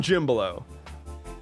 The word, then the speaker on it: Jimblo: I'm Jim Blow. It's spelled not at all like it sounds, and I've got all